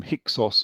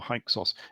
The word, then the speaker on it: Hyksos: He gives them Hyksos or Hyksos. If you go to America, they always call them the Hyksos.